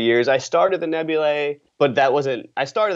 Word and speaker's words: Nebulae: would say about the Nebulae? I have to say it right, because I want to just say Nebula, because that AE combination thing just... Yeah. Anyway, so the Nebulae, one of the things